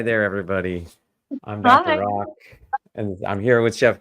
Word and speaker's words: Rak: remind you, my name is Dr. Rock, spelled R-A-K, pronounced R-O-C-K, and I am a lifestyle medicine physician.